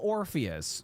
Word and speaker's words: Orpheus: Little Orpheus rhymes with Morpheus.